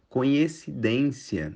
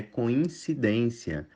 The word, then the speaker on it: coincidência: O correto é impecilho conhecidência na verdade é coincidência largata na verdade é